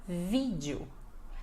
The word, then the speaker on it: vídeo: É no vi, então você tem que falar vídeo, vídeo, dando ênfase na primeira sílaba, tá bom?